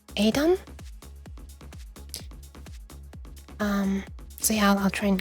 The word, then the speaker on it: Edam: Which we pronounce as Edam, but I guess Dutchly pronounced would be pronounced Edam.